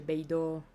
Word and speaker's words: Beidou: Per quello c'è quella U finale e si legge Beidou. Come Atsuko.